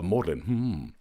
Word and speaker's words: Magdalen: What's that G doing in there? That is there so that working class people like me feel like we're not invited when posh people say, oh no, you don't sound the G.